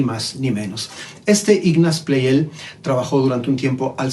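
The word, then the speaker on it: Pleyel: que murió francés y por ello lo voy a seguir a la pronunciación francesa su apellido ignace play él es su nombre además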